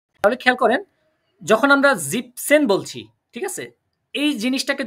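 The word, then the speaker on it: siebzehn: জিবেন কিন্তু এখানে জিপ জিবসেন কারণ এইটা যখন জিবেন সেন বলবেন খেয়াল করেন জিবেন সেন তখন এন এরকম শব্দ এই যে এন প্রোনাউন্সিয়েশন টা কি তাহলে খেয়াল করেন যখন আমরা জিপসেন বলছি ঠিক আছে এই জিনিসটাকে যদি আমরা জিবেন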